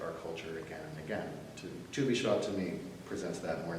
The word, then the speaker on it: Tu B'Shvat: I have to be able to pronounce it. Tu B'Shvat.